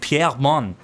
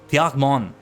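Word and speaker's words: Pierremons: I assume it's like Piermon. Piermon. Piermon. I guess we could say Piermon, but I think it's very important that we don't pronounce that S at the end.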